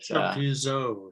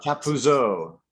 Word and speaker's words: Chappuzeau: Welcome, Simon Chappuzeau. I'm not Thank French. you. I have a hard time with your name, but Chappuzeau, yeah. Chappuzeau.